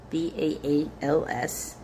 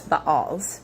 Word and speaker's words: Baals: Under his direction, the altars of the Baals, Baals, were torn down. Also, to me, that's Baals, but Baals is the common pronunciation. Both are actually correct depending on what language you're speaking.